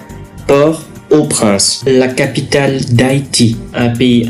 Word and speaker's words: Port-au-Prince: propre port au prince attention à la prononciation pas de liaison port au prince la capitale d'haïti un